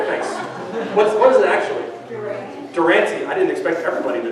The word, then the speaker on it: Durante: Durante. I didn't expect everybody to know that. I'm just going to call him Jimmy from this point out, because Durante sounds like a hot sauce.